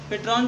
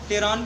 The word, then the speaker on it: pteron: लेकिन उससे पहले पेट्रॉन क्या, उसमें पी साइलेंट है, टेरॉन के नाम से हम जान सकते हैं इसको। ठीक है, लेकिन स्पेलिंग क्या होती है, PTERON, लेकिन यहाँ पे पी साइलेंट है हमारा। ठीक है, पी साइलेंट है, इसलिए क्या है, टेरॉन हम इसको पढ़ते हैं।